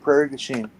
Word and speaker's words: Prairie du Chien: It's pronounced Prairie du Chien.